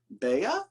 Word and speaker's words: Beha: It's The Index of Self-Destructive Acts by Christopher Beha?